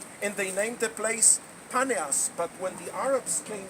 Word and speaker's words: Paneas: And they named the place Paneas, but when the Arabs came many years later, they had the problem to pronounce the letter P.